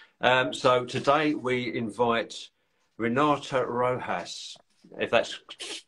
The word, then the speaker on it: Rojas: I nearly said it the other way, but I would explain that the J is an H. Is that right? Is that how you would pronounce it? So it's a Rojas. It's a J, but you pronounce it like an H, I Brilliant. guess, phonetically. Rojas.